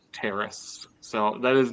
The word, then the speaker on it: teres: What is a teres strain? So it's pronounced Trace?